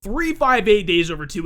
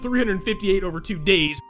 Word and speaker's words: 358/2 Days: let's play Kingdom Hearts 358 days over two and yes that is actually the official pronunciation of the title of this game I guarantee you guys I will mess up and say it wrong and completely different every once in a while I usually say something along the lines of 358 over two days so if that happens